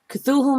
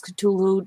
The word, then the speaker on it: Cthulhu: next section which says cthulhu mittens also known as katulu depending on how you pronounce it the octopus or the